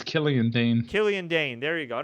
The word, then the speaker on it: Killian Dane: And eventually, Mojo eliminated is it Killian or Killane? I think it's Killian Dane.